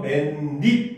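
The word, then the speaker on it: 맨입: 됩니다 입니다 알겠습니까 그다음 맨 입도 역시 마찬가지 맨이라고 하는 접두사에 입이라고 하는 단어가 합쳐진 상황인데 이때도 앞에 보면 맨잇 이렇게 발음이 되거든요 그래서 없던 니은이 첨가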